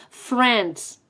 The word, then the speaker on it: friends: No Friends no Friends en esa palabra la la no se pronuncia Friends vale with the Support